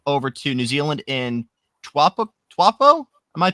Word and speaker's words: Taupo: then a trip over to New Zealand in Taupo? Am I pronouncing that right? I think I'm pronouncing it right. Taupo.